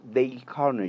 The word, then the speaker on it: Dale Carnegie: menciona un autor que se llama the jay carney y se escribe dale carnegie yo hablé con expertos